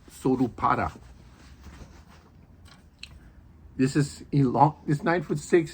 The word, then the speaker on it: Solpara: It's called a Solpara here in English, but in Japan it's pronounced Sorupara.